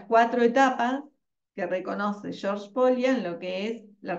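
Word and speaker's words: Pólya: Perdón, profe, antes que avance, en la bibliografía de Polya, creo que se pronuncia Polya, Sí.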